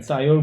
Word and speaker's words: 사이올: 가지고 있는 요것을 그래서 설퍼는 보통 사이오라는 말로 영어로 표현합니다. 그래서 이걸 사이올이라고 발음을 합니다. 사이올 그룹 또는 설파이드 그룹이라고 얘기하는데 이들을 가지고 있는 아미노산들이 몇 개 있습니다.